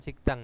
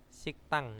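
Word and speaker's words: 식당: siktak ya Oh siktak sikdang ini bacanya bukan sigikdang ya siktang ya Nah karena apa di sini ada ee kiok bertemu dengan Diget maka digetnya ini akan berubah menjadi sang Diget atau double Diget jadi digetnya itu dnya Ini dibaca dengan t gitu ya jadi Bacanya adalah siktang Nah siktang apa rumah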